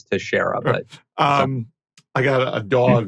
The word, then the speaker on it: Teixeira: story by Roy Teixeira, if I'm pronouncing his name correctly, which I'm sure I'm not. I think it's Texera. Okay. I'm joking. I told you before, I think it's Teixeira, but I got a